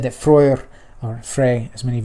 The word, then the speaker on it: Freyr: It's said that Freyr, or Frey, as many of you know him, in Old Norse, the EY makes an ui sound like in buoy.